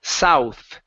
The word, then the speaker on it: south: said south okay so this is an S the beginning south south south good let's put it